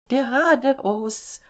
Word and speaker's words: geradeaus: The pronunciation of Geradeaus. can be tricky for English speakers, so work on softening that R sound.